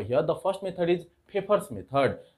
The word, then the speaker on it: Pfeffer: the first method is paper's method this is pronunciated as paper Okay so a favor